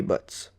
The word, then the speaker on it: Butz: unlucky sap dating her Larry Butz kind of rhymes with Harry but that my best